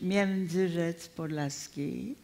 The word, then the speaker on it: Międzyrzec Podlaski: it correctly in the Polish pronunciation, the Yiddish pronunciation. Yes, in Polish, Międzyrzec Podlaski.